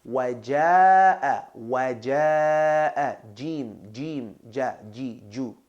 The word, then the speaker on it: jim: Very common mistake that a lot of people make is pronouncing the jim as j, right? Got to remind people sometimes that this is Arabic, not French. Je m'appelle. Anyway. So it's jim, not jim.